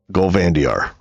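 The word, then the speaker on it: Gol'Vandiar: Gandiar like that.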